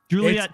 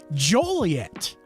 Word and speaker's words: Joliet: next to it guess what they call that Juliet town it's not Juliet it's and it's not spelled Juliet either it's spelled like how they pronounce it which is mindboggling Joliet so there's Joliet and Romeoville that makes so